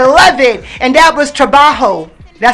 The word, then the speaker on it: trabajo: And that was Trabajo. Did I say it right? Yeah. Trabajo.